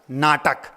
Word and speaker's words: know: शब्द है एक, कर्नाटक, कर ना अटक, कर ना अटक और कर नाटक।